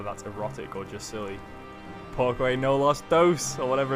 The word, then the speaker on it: porque: Pourquoi? Porque, not pourquoi. Porque.